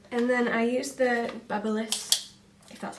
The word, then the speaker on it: BaByliss: a fringy thing and then I use the BaByliss that's how you say it um basically like